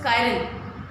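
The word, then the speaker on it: chiral: हम लोग बोलते हैं चिराल carbon, CHIR, चिराल carbon. Actually correct pronunciation is कायरल, ठीक है। आप प्रोनाउंस कुछ भी करिए, बट आप इंडियन ऑथर के अकॉर्डिंग हम लोग इसे चिराल कायरल बोलते हैं।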